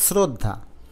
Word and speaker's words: শ্রদ্ধা: মানে শ্রদ্ধা না অর্থাৎ স এর মত উচ্চারণ হয় নাই হয়েছে ছ এর মত অর্থাৎ শ্রদ্ধা যেহেতু ছ এর মত